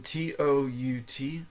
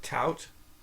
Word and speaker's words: tout: or is it U I would think it's u u oh like overt o u v r t u and then t o u t like tout like you're touting something t u t but it says to pronounce it two two two leemon remember the mega song t o u t to okay so the letter